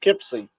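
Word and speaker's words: Poughkeepsie: uh county seat of Duchess oh yeah pipy pipsy yeah pipy that that that's as I said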